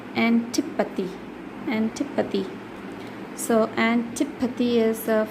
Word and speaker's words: antipathy: Antipathy. You have to say tip. You have to stress on tip. Antipathy.